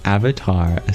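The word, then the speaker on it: अवतार: Lauren you ask isn't Avatar a Sanskrit word it is indeed Sanskrit pronunciation would be avatara which literally means dissension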